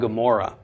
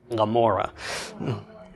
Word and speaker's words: Gomorrah: Sodom and Gomorrah well it's not Gomorrah it's Lamora okay it's that it's that swallowing your tongue sound if we were to transliterate it using the pronunciation of the I and we have today it would just be a mo r ra h r a we wouldn't even have a g at the beginning because it's such a subtle sound that's that's really disappearing